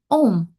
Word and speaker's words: Om: When we pronounce them together, the letters A, U, and M make the sound Om.